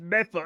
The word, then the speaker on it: Medford: It's pronounced Mepha, according to my wife.